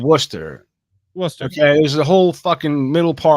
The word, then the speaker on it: Worcester: Wester Worcester that's what it's called it's called Worcester wor okay there's a whole